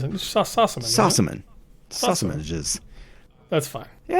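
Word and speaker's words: Sossamon: love story, which stars Patrick Fugit and Shannon Shostaman.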